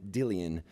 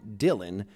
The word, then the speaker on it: Dillion: took me a minute to hear the extra syllable in Dillion. It didn't help that pretty much everybody calls him Dylan, but even as he